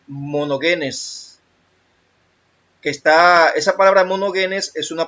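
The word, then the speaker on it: μονογενής: Se pronuncia monogenes.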